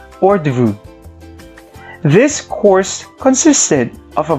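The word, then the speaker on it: hors d'oeuvres: we have the or the room spells as h-o-r-s d-apostrophe o-e-u-v-r-e-s pronounced as ordu this course consisted of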